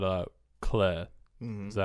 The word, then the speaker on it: clefs: And clay. That's how they pronounce it, which is weird because the F is silent.